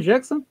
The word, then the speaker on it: Jackson: É pronúncia correta seu nome, Jackson?